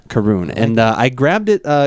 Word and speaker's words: Caorunn: on a label yes it is pronounced karoon karoon karoon and I grabbed it